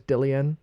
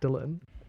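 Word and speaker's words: Dillon: spelled like that and I thought his name was dillian the longest time and D he turned around he was like why'd you keep call me dillian and I was like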